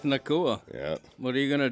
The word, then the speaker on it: Nacua: Puka Nacua. Fantasy assassin, it's the time to cash in. Yeah, it's Puka. Don't need the glove. Don't need the glove. His quarterback is not named Tua. Yeah, rhymes with Nacua.